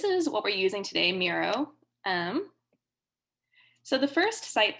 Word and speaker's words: Miro: the charade today we're using a tool called miro has anyone used miro before yeah i see some nods it's great right um yeah mira is really fantastic so we're going to be